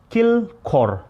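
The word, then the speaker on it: དཀྱིལ་འཁོར: in tibetan we call kill core there's a two syllable kill and call kill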